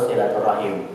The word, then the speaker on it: silaturahim: dalam bahasa Arab silaturahmi kalau dalam bahasa Indonesia boleh kita menggunakan silaturahmi atau silaturahim boleh yang jelas ini ini